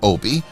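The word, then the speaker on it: Opie: said the name of my character Obi rhymes with Dopey I'd have to start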